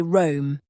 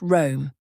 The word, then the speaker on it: Rome: A lot of learners will say Rome, which sounds just like the verb to roam, but the proper pronunciation is just Rome, with a short, flat O sound, not Rome.